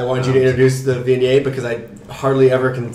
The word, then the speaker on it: Viognier: I wanted you to introduce the Viognier because I hardly ever can say that right. So. Yes, our shipping manager loves to call it Wagner because that's his favorite pronunciation for many guests.